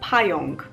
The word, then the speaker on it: pająk: A great example to show the difference is the word pająk, because there's pa, but there's yonk.